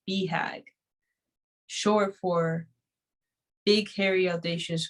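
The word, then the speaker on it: BHAG: while preserving the core which is bag pronounced beehag sure for big hairy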